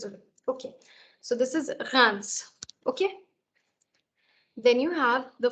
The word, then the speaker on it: Reims: city in France and it's pronounced as Reims, because इसमें R है और S को pronounce भी करना है, तो people are always confused कि क्या बोलें इसको, ठीक है? So it's not Reims, it's Reims.